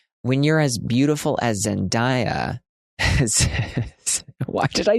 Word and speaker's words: Zendaya: It's Zendaya.